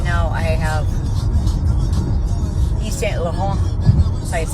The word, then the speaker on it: Yves Saint Laurent: So right now I have Yves Saint Laurent. That's how you say it. Yves Saint Laurent under eye concealer, and it's called All Hours Concealer.